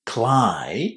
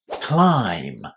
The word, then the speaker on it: climb: as well an I climb, but then you have to remember that the B at the end of this word is silent. Climb.